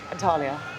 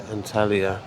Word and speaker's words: Antalya: Antalya. Antalya.